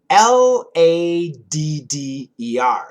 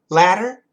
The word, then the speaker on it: ladder: So L-A-T-T-E-R, ladder, the ladder. Absolutely a flap T, and when we do a flap T, there shouldn't really be any vibration. There shouldn't be any vibration like in a D. But ladder, ladder, ladder, L-A-D-D-E-R, we can make that with vibration.